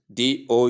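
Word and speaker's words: dough: The spelling is d o u g h but the pronunciation is do the and o sound.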